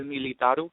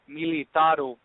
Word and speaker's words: Militaru: Oh, no, it was in English, but how you pronounce it in Romanian, it's Militaru.